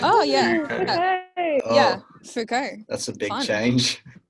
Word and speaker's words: Foucault: Foucault or something. How do you say his name? Oh yeah. Okay. Yeah, Foucault.